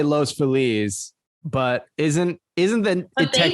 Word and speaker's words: Los Feliz: Everyone here says Los Feliz instead of Los Feliz. I would look at that and say Los Feliz, but isn't that?